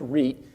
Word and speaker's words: REIT: so it is pronounced REIT and it's real easy to rhyme with so I did trick-or-treat my favorite REITs there's a lot of